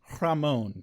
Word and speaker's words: Rahmon: h m o n chicken or beef oh Ramon that's how they pronounce it but it is